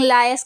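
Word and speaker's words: Laius: King लियूस थे, king लायस pronounce करेंगे इसको, किंग लायस थे, एक्स किंग ऑफ थेपस, पुराने किंग थे थेपस के।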